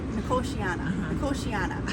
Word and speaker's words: Nicotiana: Okay, so I did pronounce this one wrong in one of the videos. It's Nicotiana? Nicotiana. Okay, hopefully that's better, Tim.